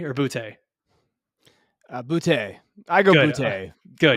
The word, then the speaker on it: Boutte: Is it Booty or Boutte? Boutte. I go Good. Boutte. Good. But Yeah, I'm terrible with pronunciations as well. I like keeping it kind of French sounding.